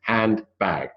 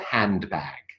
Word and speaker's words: handbag: bag B A Okay Hand bag but when we make it into one word a compound word it's not handbag is it it's handbag or handbag that and sorry for